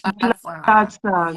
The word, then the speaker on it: Ntsalatsang: And it says here, hosting prom event for Ntsalatsang. I hope I pronounced that. Very close. It actually, Queen, it actually almost sounds like Queen Mother's surname. Oh. So, she's Yanela Ntsalatsang. So this is yes, Ntsalatsang.